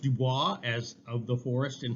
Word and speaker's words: Du Bois: Du Bois. Du Bois, okay, like the boys. Now, it should be pronounced Dubois, as of the forest in French, but he always pronounced it Du Bois.